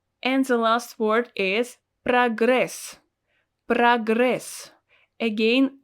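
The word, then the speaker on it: прогресс: the last word is progress progress again always pronounced as a because it's not stressed progress progress in english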